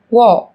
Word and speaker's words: walk: yellow, Một số từ sau đây sẽ có chữ cái L trong cách viết nhưng chúng ta không cần phát âm. Talk, talk, talk, talk, walk, walk, walk, walk, have, have, have, have, could, could, could.